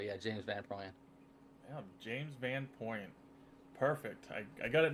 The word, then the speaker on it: Van Prooyen: Um, is it Por Porin? Uh, Van Puan.